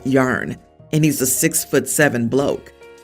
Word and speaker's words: Jan: until I explain that it's pronounced yarn and he's a 6'7 bloke.